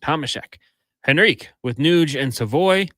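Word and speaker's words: Tomášek: I was listening to how Laddie Schmid was saying it because I want to use the Czech pronunciation. Get it from the source. Tomaszek.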